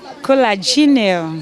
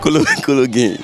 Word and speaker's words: cologne: Oh, yeah, pronounce it. Collagenal. Collagenal. Viewers, let's watch this video. Pronounce this word. COLOGNE. You say? COLOGNE.